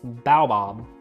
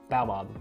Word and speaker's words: baobab: how to pronounce it it's baobab baobab it's like an African tree or something like that